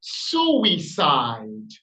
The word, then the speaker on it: suicide: on your vocalization of this noun suicide it has three syllabic structures and it's accent or the primary stress is on syllable number one listen again suicide as such I would